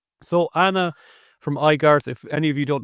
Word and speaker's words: Aigarth: Yeah, I just recently realized I should be pronounced Igart, but um, come from Beyond said, "Ask her in three days by X."